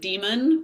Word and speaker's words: daemon: I think people hear the word daemon, you can also pronounce it demon, which is, you know,